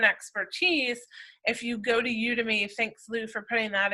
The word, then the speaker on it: Udemy: How do you say Udemy, it? yeah. Udemy.